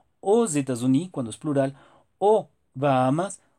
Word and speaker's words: aux: Entonces, tanto el masculino singular como el plural se pronuncian igual. O. Y la escritura es esa. AUX. Entonces, no lo olvides. Es un error si dices, por ejemplo, ale o ales.